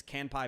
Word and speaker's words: Kanpai: the idea for and helping out with the pronunciation here it's can pie pandas right okay so where did the